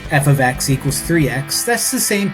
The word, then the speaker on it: f(x): F times X. No. For whatever reason, when people invented math, they decided to have this thing called function notation, which is pronounced, or rather said, as f of x.